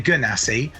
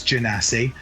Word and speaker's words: genasi: I was wanting to say gunasi, but I'm thinking it's genasi. So I don't know if we're going to get into I don't know if the chat is going to go wild over my pronunciation of this race, but I'm going to go with genasi.